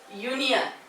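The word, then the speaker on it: union: पहा युनियन. काय युनियन. आता इथे युनियनचं उच्चारण कसं होतं पहा. युनियन य ने उच्चारण झालं. सुरुवात यू ने झाली आपल्या स्वराने झाली परंतु उच्चारण मात्र युनियन य ने झाले म्हणून त्याच्यापूर्वी सुद्धा अँड येणार नाही.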